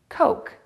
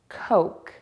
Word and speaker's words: Coke: The word should be pronounced coke. To say the word correctly, do two things for the o sound. Round your lips and make the vowel longer. Coke.